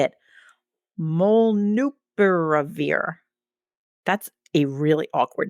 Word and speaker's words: molnupiravir: This medication is called, let me see if I can say it, molnupiravir. That's a really awkward name. That's like 8 syllables.